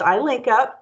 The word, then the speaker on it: I-LinCP: in Capital Projects, I-LinCP, and so, which is pronounced I-LinCP.